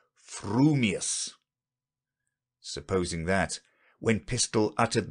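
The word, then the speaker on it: frumious: your mouth and speak if your thoughts incline ever so little towards fuming you will say fuming furious if they turn by even a hair's breath towards furious you will say furious fuming but if you have the rarest of gifts a perfectly balanced mind will say frumius supposing that when pistol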